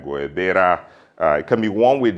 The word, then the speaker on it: guayabera: It can be worn with a short sleeve t-shirt, long sleeve polo, a linen top, a guayabara, or am I saying it right, guayabera.